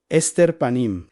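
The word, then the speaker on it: הסתר פנים: Se pronuncia exactamente así, ester panim literado el ocultamiento del rostro.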